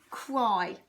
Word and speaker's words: cry: And you can hear it's got the I sound at the end. But we don't go I like fly high or the capital I. It's actually the Y, isn't it? Because that Y sounds like an I.